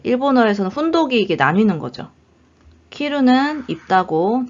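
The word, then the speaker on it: 着る: 요 한자가 요거 키루라고 읽으면 옷을 입다고요. 츠쿠라고 읽으면 도착하다예요.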